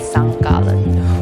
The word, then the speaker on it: Sankt Gallen: So for the next 5 months, I'll be living in St. Gallen. Or maybe the more accurate pronunciation is St. Gallen, which is a canton right on the edge of Switzerland, about an hour from Germany.